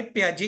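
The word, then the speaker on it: Piaget: देखो cognitive theory by प्याजे इसको प्याजे बोलते हैं बच्चे ठीक है पी आई जी ई टी प्याजे बोलते हैं स्पेलिंग्स देख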